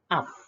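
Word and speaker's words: אב: Nah, makanya ini A, terus ini bet tanpa titik, itu vet, maka dia V. Nah, berarti ini bacanya adalah af.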